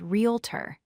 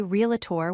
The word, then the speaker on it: realtor: Pronounce it as realtor. Do not say realtor with 4 syllables.